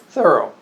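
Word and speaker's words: Thoreau: commission is gene zero the row thorough the rope thorough yes not like henry david the throttle or thorough he liked to pronounce his thorough like a thorough job but um and uh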